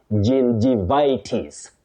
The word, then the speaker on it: gingivitis: gum disease, you say gingivitis gingi- not ging. Gingi locally, you know, we go by what letters represent locally in terms of phonology, but this one you say gin gin, not ging. Gingivitis.